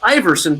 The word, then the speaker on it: Iwersen: And it's pronounced Iversen, but we use a W to mess people up, which might be why I'm an expert at conflict.